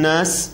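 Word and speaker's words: ناس: and not raheem this is a letter that comes out from your nose you got to take in your nose the vibration should you should feel the vibrations in your nose that's the right pronunciation of the word nas here if you can feel the vibrations your nose is right absolutely right so let's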